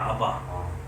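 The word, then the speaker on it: אבא: 그냥 아버지도 아니고 아빠잖아 아빠 히브리어 하고 우리하고 아빠가 같은 발음이에요 아빠예요 아바 아빠 아버지예요 거기도 높인 말 있어요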